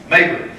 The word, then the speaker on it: Mayberry: So, like my name, Mayberry, if you go to New York City, it's pronounced Mayberry. All run together. Here in the Midwest, you pronounce the syllables.